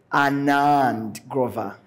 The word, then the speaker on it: Anand Grover: will be joined by Anand Grover he he specifically asked me to pronounce that name that way uh Anand is a